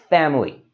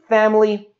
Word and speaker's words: family: there you can see it's got that middle eye that we don't really need to say so instead of saying family we can just say this as two syllables family so you know now